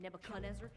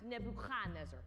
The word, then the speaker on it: Nebuchadnezzar: Also, earlier you said Nebuchadnezzar. In Hebrew, we pronounced Nebuchadnezzar. More in the back of the throat.